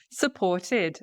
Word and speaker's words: supported: Supported, supported. Okay, I supported. With a ED sound, with a ID, really like the id sound, because with the extra syllable, because we've got the T, right?